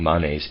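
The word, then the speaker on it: Manes: is to transform evil I am pronouncing monnezz ma n es and man akina's ma n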